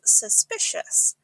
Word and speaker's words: suspicious: Try saying it slowly. Suspicious. The sh sound at the end can be quite tricky, so start slowly and then go quicker.